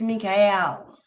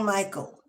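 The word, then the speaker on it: Mikhael: No, beloved, the true name is Mikel, also a feminine energy. But I'm not going to go there. Hello. It was never Michael. Never. The true spelling is M I K H A E L M not Michael.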